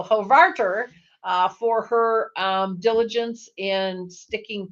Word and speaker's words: Hovarter: Hovarder. Oh, that's the problem. I got the emphasis on the wrong syllable there. So Hovarter, for her diligence in